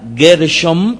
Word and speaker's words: Gershom: es el mismo nombre sin embargo no es así el hijo de moshé era gershome con m al final con mem